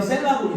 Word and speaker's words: 셀라: 말함을 두지 말지어다 아멘 이거는 그냥 팁인데요 셀라고 읽읍시다 세라 셀라 혹시 어떤 뜻인지 아는